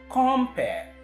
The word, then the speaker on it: compere: Now, you notice that in the first syllable, the sound in the middle of the first syllable is O. Compare, and not the schwa sound. Now, that O is a strong vowel sound. It's very strong. And that is why the stress goes on the first syllable as against the other one where you have compare.